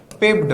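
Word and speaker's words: pipped: Next is शी, अच्छा यहां पर देखिए स्पेलिंग थोड़ी सी गलत होगी, पाइप्ड नहीं होगा बेटा, पिप्ड होगा, पिप्ड।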